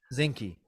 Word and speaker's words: Zinke: But Zinski, didn't you we said his see name? Zenki? Zinke.